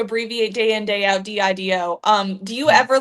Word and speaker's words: DIDO: Yeah, DIDO.